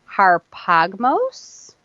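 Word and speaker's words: ἁρπαγμός: The Greek Hebrew definition of Strong's number 725 is pronounced harpagmos, and it means a thing to be seized upon or to be held fast, retained.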